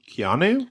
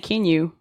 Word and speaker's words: Keanu: Keanu? I was saying Kenyu this whole time.